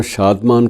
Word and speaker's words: शादमान: लाहौर का जो शादमान, कुछ लोग उसे शादमान चौक कहते हैं, कुछ उसे शदमन चौक भी कहते हैं, तो अलग अलग दोनों प्रोनाउंसिएशन चलते हैं।